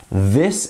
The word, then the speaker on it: this: this versus think so as you can see this and think both start with the same two letters T and H however they make a bit of a different noise when used in each word so this and think